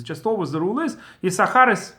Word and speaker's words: Issachar: Ashkenazim, pronounce it as Issachar. So it's one of the exclusions that's just always read not the way it's written.